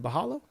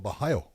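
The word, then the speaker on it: Borralho: Is it Bahalo? Bahayo. Okay. That's what I've been told. Bahayo.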